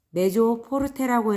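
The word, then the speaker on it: mezzo forte: 여기 아래에 MF라고 되어 있죠. 메조 포르테라고 읽고 뜻은 조금 세게라고 하네요.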